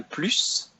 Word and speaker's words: plus: So, c'est important, c'est nécessaire, c'est essentiel, c'est un plus. Please note that actually we pronounce the S at the end of plus there.